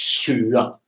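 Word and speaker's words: tjue: Yeah, okay, so it's 7, okay, that's a sh, sh, sh, like in fish in English, and 20. So that is a sound that does not exist in English.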